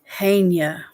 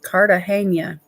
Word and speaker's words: Cartagena: Cartagena. Hania. Oh, it's the G is pronounced like a H. Okay. Like the city in Colombia. See, I learned something, Ruth. That's awesome. Cartagena.